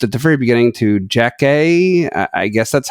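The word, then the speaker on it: Jackée: the very beginning to jack a I guess that's how it's pronounced it's Jackie with an accent on the first of the two e at the end I guess it's Jack a apparently she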